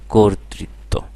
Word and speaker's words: কর্তৃত্ব: যুক্ত ব্যঞ্জন বর্ণ আছে সুতরাং এখানে ক এর উচ্চারণে এই যে অ ছিল সেই অ এর উচ্চারণ অ থাকবে না ও হয়ে যাবে তাহলে বলো কর্তৃত্ব হবে নাকি কর্তৃত্ব হবে কর্তৃত্ব একইভাবে যকৃত বক্তৃতা আশা